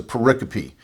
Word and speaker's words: pericope: gospels known as a pericope it's spelled just like Periscope without the s pericope and so they would